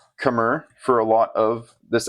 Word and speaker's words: Khmer: saying in English but the pronunciation in Cambodian is closer to kamay spelled out K apostrophe M AI there's no standardization of